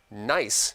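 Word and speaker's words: gneiss: science to be exactly the variety of metamorphic rock pronounced nice is spelled how Luke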